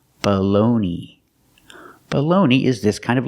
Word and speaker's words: bologna: word comes from Italian in Italian they say bologna something like that I don't speak Italian but in America we pronounce it baloney I don't know why I don't know what happened but that's how we pronounce it this is baloney the first vowel is not stressed so it has a short sound it's a schwa baloney the second syllable